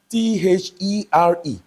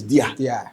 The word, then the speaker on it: there: Even I have an Igbo friend that cannot pronounce T-H-E-R-E. His own is dia. Dia. I keep telling him, no, it's there. It's different from the TH.